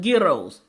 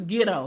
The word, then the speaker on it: gyro: Selling gyros. Because I was told it's a gyro, not a gyro, not a gyro, a gyro. Because I went to a